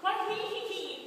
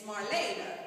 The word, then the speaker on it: Marlena: Marlene, did I mention to you that Caitlin's taking all honors classes this year? That's not how you say it. Sorry? It's not Marlene. It's Marlena. That's how you say it.